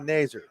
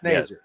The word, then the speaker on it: Nazer: He's going to get it out to the 38-yard line to pick up a 6er, Noah Nazer. I got it. It's pronounced correctly, right? It's Nazer. Yes, Nazer.